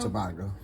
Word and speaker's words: Tobago: Yes, Tobago.